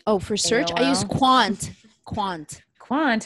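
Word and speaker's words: Qwant: i use proton oh for search i use quant quant quant how do you spell that want q-w-a-n-t out of france and and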